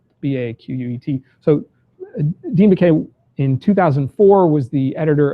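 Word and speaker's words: Baquet: I read this really interesting article talking to, I just learned I've been mispronouncing his name, Dean Beck, B-A-Q-U-E-T. So Dean Beck in 2004 was the editor of the Los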